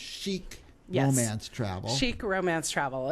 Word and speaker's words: Chic: And it's pronounced Chic Romance Travel.